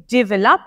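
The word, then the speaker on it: develop: लप के ऊपर आप जो LOP है उस पर स्ट्रेस डाल रहे हो, जबकि हमें स्ट्रेस करना है ऑन DE, डेवलप, डेवलप।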